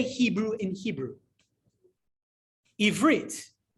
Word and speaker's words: Ivrit: Ivrit, right? If you ever know, how do you say Hebrew? And it's a funny question. How do you say, what's the Hebrew word for Hebrew? The answer is Ivrit.